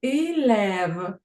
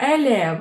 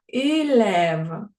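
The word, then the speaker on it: élève: нас багато таких слів зверніть увагу илев не елев а илев далі рез множинат слова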